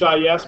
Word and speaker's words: His: His S but pronounced like a snake would say H I SS.